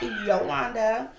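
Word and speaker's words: Jolanda: Yes, it is spelled with a J. And yes, it is pronounced Yolanda.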